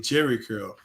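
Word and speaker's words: Jheri curl: Uh man, when you say Jerry Curl and it's J H E R I Curl, that's how you're supposed to spell it.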